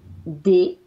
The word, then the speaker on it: des: J'ai des enfants This one is et j'ai deux.